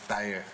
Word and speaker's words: Thair: We just said Thair with the American accent, but the dialect is Thair.